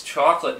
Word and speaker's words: Choklat: the the chocolate just it's pronounced just chocolate even though it's spelled kind of funky um I had considered